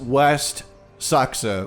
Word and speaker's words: Seaxe: Alright, so we got our first mission, and it was West Saxe, which is good, because now I know how to pronounce that. Also, the C is just a K.